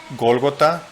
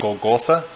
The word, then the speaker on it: Golgotha: Golgota in English would be Golgotha, but it's harder to understand, and that's the Hebrew name for that place. In English, it's translated to Calvary. So if you hear Golgotha in Spanish, in English you could say Calvary.